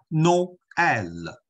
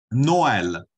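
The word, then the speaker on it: Noël: 这个单词啊，大家一般都要知道怎么念呢？Noel， Noel。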